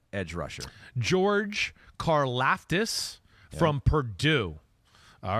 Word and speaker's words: Karlaftis: Yeah, number 4 edge rusher, George Karlaftis from Purdue.